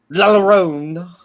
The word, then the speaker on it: La Llorona: pronounce the double L like a Y. La Llorona.